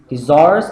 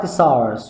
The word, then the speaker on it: thesaurus: So either the thesaurus or thesaurus, both can be pronounced and both pronunciations are acceptable.